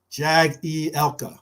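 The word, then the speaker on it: Jagielka: Jag E Elka. Okay. Jag E Elka. Jag E Elka. I like how you put it phonetically for me.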